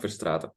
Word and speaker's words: Verstraete: I feel like I should maybe correct the pronunciation of some names just for their sake. So it's Norbert Schuch and Frank Verstraeten.